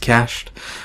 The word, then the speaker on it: cached: C but people complain and tell me it's pronounced cached so it's a preached variable for this transform